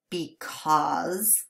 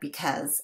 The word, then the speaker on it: because: If you say the word properly, it's because. But when we say it quickly, it just sounds like because. And that's why so many of us spell it incorrectly.